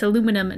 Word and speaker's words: aluminum: Which, by the way, it's aluminum, not aluminium.